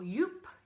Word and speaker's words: Joop: I've also gone for Wow from Joop, or Joop if you want to say it properly.